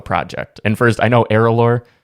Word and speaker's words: ERALôR: and first i know aerolor i am saying it correctly now i hope you are good yeah because i know at